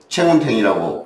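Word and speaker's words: Cheng Hoon Teng: 이게 도교적 색채를 갖고 있는데, 불교적 색채가 굉장히 강한, 우리말로는 청운정인데, 이제 말레이어로 채운탱이라고 이제 발음이 됩니다.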